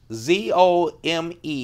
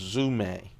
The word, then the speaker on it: Zome: fours Spyderco zoom a delicate fours zoom a zom but it is pronounced zoom a now let's talk about these limited editions usually